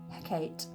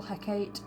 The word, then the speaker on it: Hecate: It can be spelt with a K or a C, but it's still Hecate, and she is the goddess of magic, witchcraft, the night, moon, ghosts, and also necromancy.